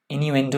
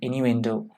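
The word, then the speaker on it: innuendo: Example इन्यूएंडो, ये इन्यूएंडो है, माफ कीजिएगा, शायद मैंने गलत प्रोनाउंस कर लिया होगा, इन्यूएंडो है ये, इन्यूएंडो।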